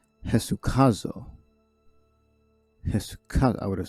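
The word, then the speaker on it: ἡσυχάζω: We got Eta is pronounced with an H. Hesukazo. I would have said Esukazo.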